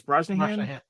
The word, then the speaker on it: Brosnahan: I think it's Brosnahan. I believe that is right.